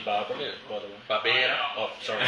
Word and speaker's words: Barbera: Barbera. Oh, sorry. I Barbera.